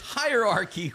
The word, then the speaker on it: hierarchy: lot of women, but none of them could archie like her. That that's a great pronunciation. Uh, anybody else want to try to take the the pronunciation of that word? It is hierarchy.